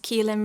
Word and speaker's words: Caoilfhionn: um well you can find me as kein it's spelled the Irish way and also phonetically sometimes